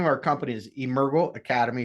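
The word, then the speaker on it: Emergo: that so the name of our company is Urgo Academy it's on the screen Urgo is actually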